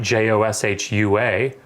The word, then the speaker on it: Joshua: So when I wrote mine, I didn't write JOSHUA. I wrote JAH-SHOE-WAH, Joshua. So that's written phonetically.